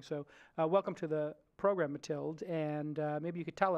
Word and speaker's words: Mathilde: Not Matilda, Mathilde.